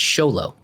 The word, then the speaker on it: Xolo: It is a Hispanic thing because the guy from Miguel from Cobra Kai, his name is spelled XOLO and it's Sholo.